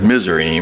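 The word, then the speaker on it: Mizraim: land to put kanan you may not recognize misery because misery is egypt that's that's that's how egypt is spelled and been pronounced and that is hebrew for egypt his misery cush of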